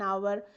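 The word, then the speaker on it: hour: An apple, an elephant, an Indian, an office, an umbrella, an आवर। अब आवर में पहले एच है, H consonant letter है लेकिन ये प्रोनाउंस नहीं होता।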